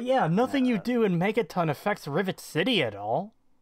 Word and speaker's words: Megaton: to be honest yeah he said Mega tin and I'm like I have never heard anybody pronounce Megaton that way before neither have I that's not